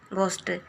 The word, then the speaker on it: ghost: तो GHOST यहाँ है घोस्ट, घ पढ़ेंगे, घोस्ट।